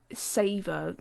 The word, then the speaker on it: Saveur: his hand, and it's from a website called Savor, but it's spelled Saveur.